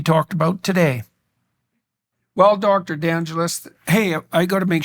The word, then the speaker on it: DeAngelis: about today well Dr d'angeles hey I got to make sure I'm pronouncing that exactly right am I pronouncing that exactly right yeah d'angeles like Los Angeles but I'm not I'm